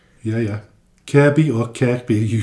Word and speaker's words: Kirkby: So, it's spelled Kirkby but pronounced Kirby.